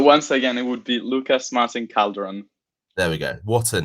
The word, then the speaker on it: Lucas Martín Calderón: time alright so once again it would be Lucas Martin caldron there we go what a name I love